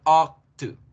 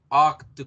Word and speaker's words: ought to: Se pronuncia ought to. Ought to, como si fuéramos a decir octopus. Ought to, ought to, ought to.